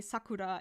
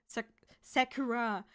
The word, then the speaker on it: Sakura: Naruto cast I um I need to put conscious effort to say Sakura instead of s Sakura because my mouth is